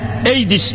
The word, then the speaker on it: AIDS: diyorlar siz söyleyin eis a i d s eis diye okunuyormuş Amerika'yı kırıp geçiriyor ünlü